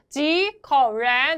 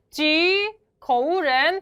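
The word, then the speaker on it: 几口人: 지커렌. 자, 이때 여러분 요거 잊지 않으셨죠? 큰 체크 표시처럼 발음하셔야 돼요. 지커렌 발음하면 틀린 거예요.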